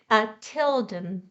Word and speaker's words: Tilden: No, it would be pronounced Tidden without the Tidden. Oh, that's right. Tilden. Yes. So with L, Tilden.